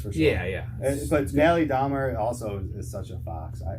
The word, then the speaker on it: Dormer: But Natalie Dormer also is such a fox. It's Jeffrey Dahmer? Yes. Dormer. Okay, sorry. Dormer. You said Dahmer.